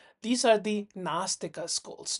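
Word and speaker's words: nāstika: These are the nastika schools. Notice the A is with a roof on Astika and Nastika. So, it's actually pronounced as a double A.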